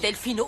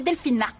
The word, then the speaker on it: Delfina: Fräulein Delfino, vous désirez une tasse de café? Oui, je veux bien, mais j'aimerais que vous me fassiez le plaisir de prononcer mon prénom correctement. C'est Delphina.